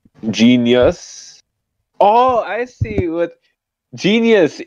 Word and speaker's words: Jeenius: Jeenius. It's the word genius, but it's spelled weird.